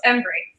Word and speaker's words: Embree: Today we're joined by Embree. Is that how I pronounce it? Is that correct? Close, Embree.